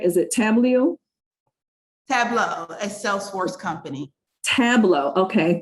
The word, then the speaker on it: Tableau: And am I pronouncing it right? Is it Tableau? Tableau, a Salesforce company.